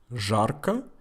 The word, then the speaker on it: жарко: Жарко. And listen closely. How do I say the letter Z? Жарко. So I pronounce it as Z because it's not the last letter.